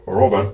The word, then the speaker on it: Robert: In English it would be Robert, but I think it's Robert.